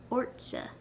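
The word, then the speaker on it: ortsa: you to do that we'll add a suffix s a and ort will become ortzha kanya matarza what's your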